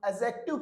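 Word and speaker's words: adjective: डी के बाद में जे हो तो डी का उच्चारण नहीं होगा। इसे क्या बोला जाएगा? एडजेक्टिव बोला जाएगा। क्या बोला जाएगा? एडजेक्टिव। न की एडजेक्टिव।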